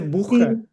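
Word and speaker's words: Buch: से करेंगे हम ब्रन फर्स्ट लेक्चर में जैसे बुख तो बी यू सी एच सो यू के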